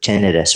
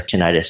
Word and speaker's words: tinnitus: I ended up diagnosed with tinnitus or tinnitus, depending on how your healthcare professional pronounces it, which started like